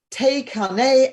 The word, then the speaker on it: Thakane: and pronounce it correctly, Te Kane and the Nanabolele. That's probably not very good. So Charlotte. I'll spell it for you. Thakane, Takane, and the Nanabolele.